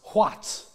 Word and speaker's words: quat: But it's not pronounced quat, it's pronounced huat.